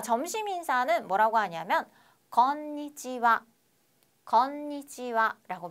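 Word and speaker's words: こんにちは: 오하이오 쓰시면 되겠고요 자 점심 인사는 뭐라고 하냐면 곤니찌와 곤니찌와라고 발음을 합니다 자 선생님 이상한데요라고 하시는 분들은 우수한 학생입니다 자 곤니찌 하라고 배웠어요 여러분 이거 하라고 배웠는데 와라고 제가 발음했습니다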